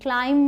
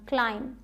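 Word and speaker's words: climb: बोलेंगे क्लाइंब नहीं बोलना क्लाइंब क्लियर हुआ आपके लिए तो जब भी एम आए उसके बाद बी आ जाए तो बी का साउंड नहीं निकालना सिर्फ म पे चुप हो जाना है ठीक है अब देखिए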